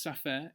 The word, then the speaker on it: SAFER: Um you might see the word safer on the screen. Um it's pronounced sapphire in French.